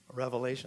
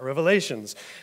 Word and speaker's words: Revelation: because it get to reveal things to you Revelation right so I had to reveal some things